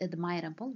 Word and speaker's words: admirable: The third rule is about words which end in silent E. When we have the letter E and it is silent, it's not pronounced. You have to drop it before a suffix which begins with a vowel. For instance, admire, the word admire ends in E, which is silent. We add the suffix able and we get the word admirable without E.